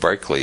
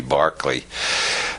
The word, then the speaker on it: Berkeley: Bishop Barclay George Barkley after whom the city of Berkeley is named because Americans don't know how to pronounce Irish names it should be Barkley Bishop Barkley proved the